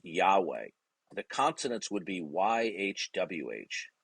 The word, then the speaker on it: Yahweh: the form of 4 consonants, which some people pronounce as Yahweh. Okay, we've lost in history what the exact pronunciation is, but it's pronounced Yahweh.